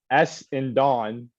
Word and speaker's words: Essendon: Essendon. I know, but I'm just like extremely pronouncing the S, the N, and the Dawn.